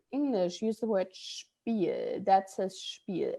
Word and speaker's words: Spiel: And that is exactly how it should be pronounced. It's a sh sound So instead it's of like SCHP. You gotta think of like a CH in there before the P.